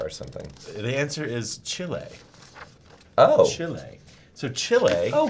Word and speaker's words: Chile: of every day and the the way to pronounce it is Chile not Chile right right Chile is you eat from Texas